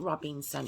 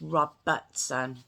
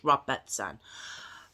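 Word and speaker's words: Robertson: caroline reed robinson roberts i keep saying robinson it's not robinson it's rob buttson that's my pronunciation i'm sorry rob betson um was sentenced to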